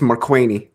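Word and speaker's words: Markwayne: You didn't say it right. It's Marquaney. You got to say it Marquaney.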